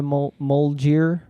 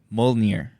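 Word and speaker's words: Mjölnir: But I just don't understand how she came to be called by Molgir. Is that how you pronounce the hammer name?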